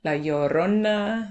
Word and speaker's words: La Llorona: La Llorona, not the movie, okay?